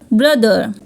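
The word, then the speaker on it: brother: में आ रहा है अगर टी एच वर्ड के बीच में आ रहा है और टीटीएच के पहले भी एक वावल है और टीटीएच के बाद में भी एक वावल है तो टी एच को द रीड करेंगे फॉर एग्जांपल वेदर लेदर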